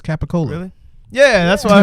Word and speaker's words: capicola: C is the more like a hard G.